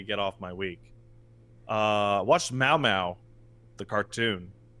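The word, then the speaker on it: Mao Mao: Mau Mau. Okay. Not like meow meow.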